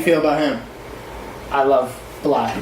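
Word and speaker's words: 6LACK: I love Black, not 6 Black. I love Black. Yeah, I just said that because that's how it's spelled. I know, and everyone always makes that mistake.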